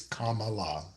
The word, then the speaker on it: Kamala: Last night, this amazing woman named Kamala Harris. And for those who don't know how to say her first name, it is Kamala.